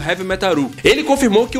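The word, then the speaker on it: ヘヴィメタル: metal é um trocadilho com a pronúncia japonesa de heavy metal Seria algo como Heavy metaru ele confirmou que o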